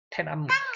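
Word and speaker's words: 톈안먼: 태남문, 우리나라로는 천안문 그러는데 중국 발음은 태남문 그러죠.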